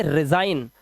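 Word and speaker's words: resign: और इसी तरह से रिजाइन, यहां पर आप देख सकते हैं जी साइलेंट है, इसका मतलब होता है इस्तीफा देना।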